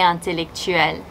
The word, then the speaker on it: intellectuelle: Il est intellectuel, elle est intellectuelle. No pronunciation change.